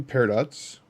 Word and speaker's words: peridot: 2 peridots. Peridots? How do you even pronounce that?